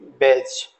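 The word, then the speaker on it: badge: colour से लिखा हुआ जैसे बेज डी का यहां प्रोनंसिएशन नहीं करेंगे बेज इसको भी छोड़ देंगे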